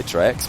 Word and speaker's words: Trex: He said it's pronounced Trex.